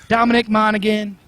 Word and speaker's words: Monaghan: Monaghan.